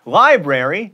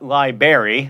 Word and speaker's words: library: or larva not larvae library not libary and it's a triathlon